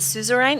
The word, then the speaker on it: suzerain: Like if you're there, is it suzerain? Is that how you pronounce it?